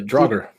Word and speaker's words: draugr: The Draga, or how would you pronounce that in the Norse? Is it the Drago? The Draugr. Draugr.